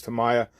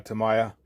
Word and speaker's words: Tamiya: I know it's pronounced several different ways, but I believe it's Tamiya.